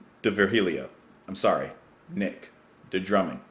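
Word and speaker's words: D'Virgilio: here nick di virgilio maybe the g is silent de virgilio i'm sorry nick the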